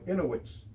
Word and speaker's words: Inuit: In Alaska, it would be people who used to be called Eskimos, but who are known as Inuits. Is Inuit the right pronunciation?